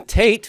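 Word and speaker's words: ט: yeah okay so hate and then tate rhymes with it everybody tate tate and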